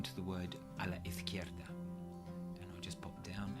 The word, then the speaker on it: izquierda: But if you don't like the look of it, it doesn't really matter, because just remember that the Z is pronounced like a TH. So, a la izquierda, a la izquierda.